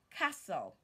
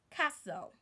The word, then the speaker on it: castle: to your teacher and not the word is Castle castle Castle their King lives in a castle another